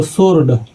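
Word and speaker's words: sword: जैसे ये लिखा है दोस्तों सोर्ड तो इसमें दोस्तों डब्ल्यू से पहले एस आ गया है और डब्ल्यू से पहले जैसे ही एस अगर जो आ जाता है तो डब्ल्यू हो जाता है दोस्तों साइलेंट। तो इसको पढ़ते वक्त पढ़ेंगे दोस्तों सोर्ड।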